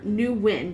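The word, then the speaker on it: Nguyen: things up for me is either pronounced when or new wind depending on if it's southern vietnamese or northern i don't think i'm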